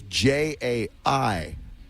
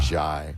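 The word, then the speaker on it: Jai Wolf: Uh, Jwolf, but it's J AI Wolf.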